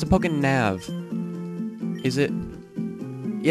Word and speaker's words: PokéNav: Well, it's a it's a Pokénav. Is it? Yeah, it's a Pokénav. I've been pronouncing it Pokéné because it looks like a Y, not a V. So I'm pronouncing it wrong the whole entire time.